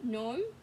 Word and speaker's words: gnome: Ooh, lots of silent G, huh? Look, silent G, gnome, silent G, gnat, silent G, gnocchi.